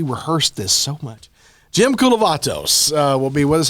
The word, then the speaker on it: Kulavatos: here earlier that's true uh Jim kavatos that's his name I'm saying it right that's correct so we rehearsed this so much Jim kulat uh will be with